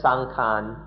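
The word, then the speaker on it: saṅkhāra: in thailand most often sankhara just means the body people's thai people speak of sankhara or sang khan in the thai pronunciation they just mean the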